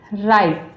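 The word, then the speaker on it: rice: And next है आई, तो इसको क्या पढ़ेंगे, राइस, राइस, इसकी यहाँ भी ई जो है साइलेंट है, अब इसको हम आई की आई साउंड आ रही है, जैसे कि राइस, इस तरीके से।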